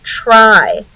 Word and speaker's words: try: It's saying the I at the end of the syllable, but in this case, the Y makes a long vowel I sound. So the Y is acting as a vowel in the word try.